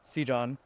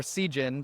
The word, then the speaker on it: Seejon: Uh well first of all my name is C John or Sen for the folks on the way back. Um uh I oscillate between both because to be honest I do not know how to pronounce my name officially.